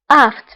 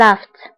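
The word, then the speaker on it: aphte: aft فهنا PH. فهنا PH كنطقوها ب F. aft. laft. وبالنسبة للجمع فهما les aft.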